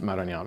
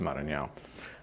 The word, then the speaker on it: Maranhão: I was walking by there, and by the way, you pronounced Maranhão very well.